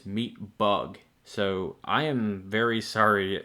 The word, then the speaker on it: Meatbug: I kept referring to them as Meatbag, but in actuality their name is Meatbug.